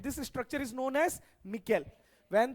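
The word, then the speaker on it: micelle: This is cleansing action of soap, और इस structure को कहते हैं मिकेल फॉर्मेशन। क्या बोलते हैं, मिकेल फॉर्मेशन, MI, क्या है spelling, MICE LLE, मिकेल, simple science है।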